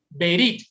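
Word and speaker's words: ברית: la expresión que ven en pantalla y se pronuncia de la siguiente manera: berit.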